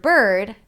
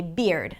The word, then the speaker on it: bird: So, for example, if there is the word bird, Arabic speakers might say beard. Now, beard is a different word and spelled differently, right? So we want to make sure that we're pronouncing it clearly and not phonetically. So, bird, beard, bird, b-er.